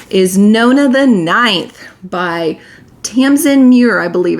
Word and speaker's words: Tamsin Muir: up so badly is Nona the Ninth by Tamsin Muir, I believe it's pronounced.